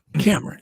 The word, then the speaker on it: Kameron: Is that how you say it? Cameron. Just Cameron. Mm-hmm.